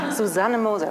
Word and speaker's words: Susanne Moser: This hasn't happened to me ever before, that someone introduces me with a German pronounced name. Susanne Moser.